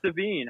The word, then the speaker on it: Devine: I was like, I'm just thinking Lavigne here. Devine.